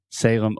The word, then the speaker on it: Salem: with the pronunciation so this is Salem s-a-l-e-m and remember whenever you have a word that ends with the letter M in English we're going to close our mouth completely because your natural tendency